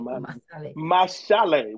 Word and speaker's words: Masale: Masale, it's my there's an sh, but it's spelled s e l e.